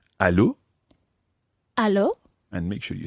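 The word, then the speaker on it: allô: on the phone in French instead you say Aloo hello and make sure you send very French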